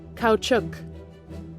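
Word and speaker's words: Caoutchouc: Engineers no I definitely didn't have to look up on Google how to pronounce that cow chuk Here Comes Bessie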